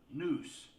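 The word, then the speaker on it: Nuch: spelled n-u-c-h and it's pronounced noose as in hangman's noose you know that you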